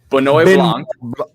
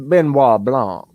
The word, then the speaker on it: Benoit Blanc: uh how do you even say his name bonnoy blanc i got this my detective benoit blanc daniel craig's back his best best character of